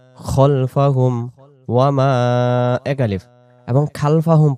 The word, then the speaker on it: خلفهم: ইয়ালামু মা বাইনা আইদিহিম আইদিহিম আইদি দি এক আলিফ আইদিহিম ওয়ামা খলফাহুম ওয়ামা খলফাহুম ওয়ামা এক আলিফ এবং খালফাহুম পড়ব না, উচ্চারণটা পড়ব খলফাহুম ওয়ামা খলফাহুম من ذا